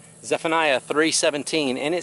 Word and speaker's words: Zephaniah: sometimes difficult to pronounce it's pronounced Zephaniah Zephaniah 3:17 and it says